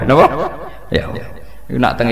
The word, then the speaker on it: Yahweh: Ya paham ya, Tuhan Yahudi tunggal niku Yahweh, napa? Yahweh. Iku nak teng ejaan Latin Y besar A H besar W E H besar Yahweh.